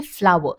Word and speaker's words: flour: So we pronounce these two words in the same way. Okay, flour.